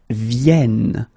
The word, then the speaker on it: viennent: And the last one, because you've got this double N here, you need to pronounce this like eh. And that's the reason why you should pronounce it viennent, viennent.